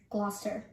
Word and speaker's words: Gloucester: popular town in new england for whale watching gloucester this town rather than rhyming with america is actually pronounced as billerica this